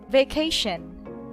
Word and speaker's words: vacation: So the second to the last syllable is being stressed. Same with cooperation, cooperation. Thanks for your cooperation. Attention, attention, guys. Vacation, vacation.